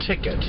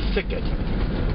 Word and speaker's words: Thicket: the locals call the ticket it's actually spelled with a th so it would be Thicket not many people say the th part just give you a